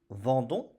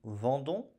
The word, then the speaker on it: vendons: Nous vendons Nous vendons OS. O S avec un S que l'on ne prononce pas. Nous vendons.